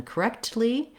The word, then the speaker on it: correctly: a time correctly correctly i also don't really release that k i don't say correct correctly or correctly but both the k and the t are stopped correctly so i just stop my tongue don't let any air out until i get to